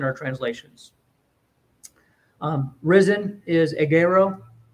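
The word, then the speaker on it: ἐγείρω: translations um risen is agaro it's one of the first words I learned how to pronounce because it's an egg with an arrow EG Arrow yes and it's rising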